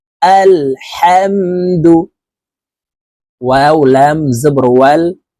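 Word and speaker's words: الحمد: আমরা অনেকে এই শব্দটি আলহামদু পড়ি এই হাকে হলকের শুরু থেকে পড়ে থাকি এটি বড় হা হলকের মধ্যখান থেকে উচ্চারণ করতে হবে আলহামদু ওয়াও লাম জবর ওয়াল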